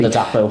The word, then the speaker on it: Ladapo: The likes of Connor Chaplin and Freddie Ladapo, let me pronounce that correctly, Ladapo, scored 42 goals between them in that Division 1 promotion campaign.